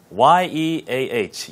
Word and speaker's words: Yeah: Y-E-A-H. Yeah. 안승환님, 이진우님, 맞습니다. 예압도 있고요. Yeah. 근데 영어 발음은 그냥 야가 아니고 약간 에아 발음이에요.